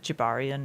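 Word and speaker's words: Gibarian: one we see clearly uh is is it Jabarian? Is that how you pronounce his name?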